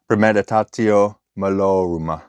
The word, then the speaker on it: premeditatio malorum: So this one, premeditatio malorum.